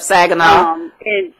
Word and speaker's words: Saginaw: She lives in Saginaw. I believe I'm pronouncing it right. Yep, Saginaw.